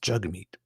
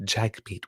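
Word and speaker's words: Jagmeet: And I make the the mistake often because I'm reading from notes, but it's pronounced jug meat. Jug meat. So, but he's like you said like he actually said jack meat, which sounds like a lot like jack meat, right?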